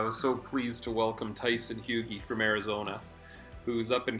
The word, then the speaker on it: Tyson Hugie: So here's our special guest at RAD Garage, Tyson Hugie. Am I pronouncing that right?